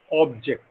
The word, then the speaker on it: object: And to indicate that object is a noun, we put a stress on the first syllable, object, right? But to indicate that object is a verb, we put a stress on the second syllable, and it is object.